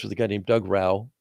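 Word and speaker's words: Rauch: writing the intention economy, I was put in touch with a guy named Doug Rau, spelled Rausch, German for smoke, but it's pronounced Rau, who was the president of Trader Joe's for the last 14 years at that time, had recently retired.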